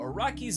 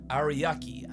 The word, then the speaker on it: Araki: The first one of these videos coming out 7 years ago, in which I hilariously mispronounced actual author Hirohiko Araki's name as Ariaki, and that's the last mistake I ever made.